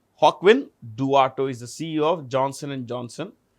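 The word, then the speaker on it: Joaquin Duato: Hawkwin Duato. This is pronounced with a J. Hawkwin Duato is the CEO of Johnson & Johnson.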